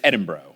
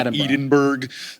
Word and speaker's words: Edinburgh: The next one, I do know it's Edinburgh, right? Not Edinburgh. Edinburgh. Edinburgh. Edinburgh. Edinburgh. Like bra.